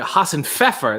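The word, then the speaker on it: Hasenpfeffer: shall continue flying er haas and pfeffer that's how you say it haasenfever is german for rabbit said happy fun bath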